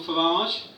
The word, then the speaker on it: Farage: Fundamentally, he's got the emphasis on the wrong syllable. Because it's not a bandage or a garage, is it? It's a garage and a bandage, so it's fundamentally Nigel Farage, so let's call him that from now on.